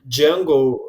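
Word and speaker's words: Django: presenting himself he say my name is Jungle the D is silent and I always wanted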